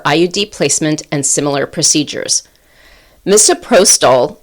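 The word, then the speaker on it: misoprostol: Moprotol I think that's how you pronounce it.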